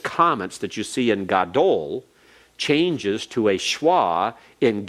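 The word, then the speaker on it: גָּדוֹל: For example, if we have the adjective gadol, gadol is accented on the last syllable.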